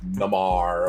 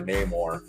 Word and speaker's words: Namor: People always said things or understood things different because it's comics and it's text. So you grew up pronouncing it how you and your group of friends grew up pronouncing it wherever you were from.